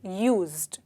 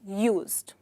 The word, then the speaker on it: used: और बहुत इम्पॉर्टेंट है इसका प्रोनाउंसिएशन करेक्ट तरीके से करना, ऑलराइट, यूज्ड, क्योंकि इसमें डी है तो काफ़ी लोग कंफ्यूज हो जाते हैं, बट ये एक सिंपल प्रोनाउंसिएशन है यूज्ड, दैट्स ऑल, ऑलराइट।